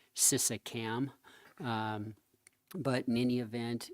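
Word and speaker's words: Şişecam: but super impressive organization, Sisagem, I think is how you say it. It looks like Sisacam, but in any event, it's a really well-run outfit, and we couldn't take any photos.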